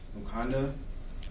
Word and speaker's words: Mukanda: I don't know if you guys have seen that or not, but it's actually pronounced Mukanda ceremony, and it starts off with the boys